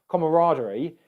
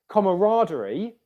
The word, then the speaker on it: camaraderie: Well, your word was camaraderie. So good question. Here, camaraderie, we've got two syllables of R. Camaraderie. Okay, so I hope you can hear there, camaraderie. The stressed syllable in this word is ra.